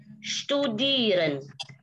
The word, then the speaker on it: studieren: SP, ST, SCH dibaca schwimmen.